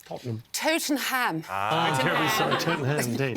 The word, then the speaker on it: Tottenham: Tottenham Hotspur's Europa League victory.